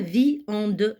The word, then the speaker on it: viande: Ce I peut être suivi par le mariage AN du son AN. Viande. Je dis pas viande, je dis viande. Donc je prononce cette lettre I deux fois.